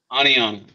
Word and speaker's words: Oneonta: Give me the pronunciation. Oneonta. Oneonta.